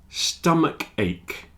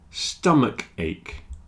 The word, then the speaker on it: stomach ache: meaning enormous and finally stomach ache stomach ache architect and chemist they have a CH which is pronounced like a k stomach a stomach a